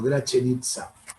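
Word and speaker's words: Gračanica: No se escribe como está escrito en la presentación que están viendo ustedes, pero lo puse así para que ustedes lo puedan replicar el sonido, Gračenica.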